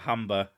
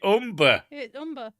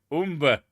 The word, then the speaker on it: Humber: or the umber umber i know how that word's pronounced it's not humber i've been told off for that because i said it was the humber someone went no it's the umber umber you people and you're